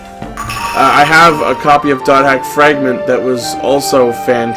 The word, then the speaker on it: .hack: you see that it's dot hack fragment you don't pronounce the slashes that's just how the franchise chooses to highlight their different entries um my definitions sure